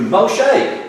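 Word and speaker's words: Moshe: machete that's it that's how he's name is pronounced in Hebrew mo shake do you want to means drama bottled water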